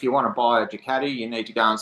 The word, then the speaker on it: Ducati: So where did the Ducati obsession come from? Or as Americans say, Ducati.